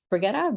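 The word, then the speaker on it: Brigitta: you very much um so my name is brigetta but I have many variations so no worries and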